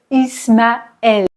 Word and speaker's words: Ismaël: Cependant, le E va se prononcer comme un E ouvert. Et, par exemple, Noël. Mon neveu s'appelle Ismaël.